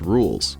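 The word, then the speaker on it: Rouxls: a remix of rules fight music called It's pronounced rules and the name is a reference to the phrase spoken by rules before this encounter which in and of itself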